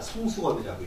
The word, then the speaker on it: 성수겁: 여기 이제 요 별성에다가 자숙이라고 있는데 그러니까 이 숫자가 그 별을 읽을 때는 수라고 있습니다. 성수겁이라고 읽어요.